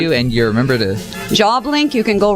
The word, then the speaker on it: Jawblink: Job Link is spelled JAWBLINK. Just think of a shark.